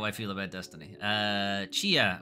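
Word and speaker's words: Tchia: feel about Destiny uh Chia which apparently is how this game is pronounced um so Chia is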